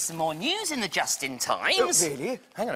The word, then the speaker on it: Justin: My name is Justin. It rhymes with dustbin.